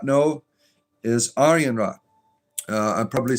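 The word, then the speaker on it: Arianrhod: And this goddess here, if you did not know, is Arianra. Uh I'm probably saying her name wrong.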